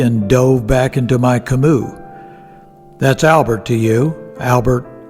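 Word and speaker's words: Camus: And I knew at least enough about it, should that author come up in conversation with the French girls, not to pronounce the s in kimu.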